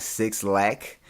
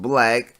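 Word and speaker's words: 6LACK: you pronounce it like six lakh but it's pronounced black with his album Easter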